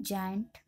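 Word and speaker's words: giant: हम पढ़ेंगे जायंट, क्योंकि आई से पहले जी आए तो हम इसका जो उच्चारण है जायंट पढ़ेंगे।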